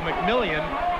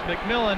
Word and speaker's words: McMillan: And I was checking with him on how he pronounces his name, because it could go McMillian, but he says it's McMillan, and be ready to call it a lot tonight.